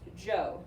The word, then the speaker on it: Zhao: that wrong that's now it looks like Zhao but when we get into this text itself we see it's pronounced - Jo I know my brain